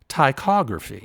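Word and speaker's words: ptychography: had to spell basically it's just pronounced tychography right there's a silent p just like do we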